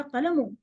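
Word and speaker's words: قلم: इसको भी आपने कालामुन, कलम नहीं कह देना।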